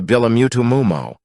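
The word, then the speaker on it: bulamutumumo: Tarzan made of god the masculine prefix of the apes is bu the feminine mu g tarzen had named la oh he pronounced tu and d was m o. So the word god evolved itself into bilamutumo or in English hiji oi d.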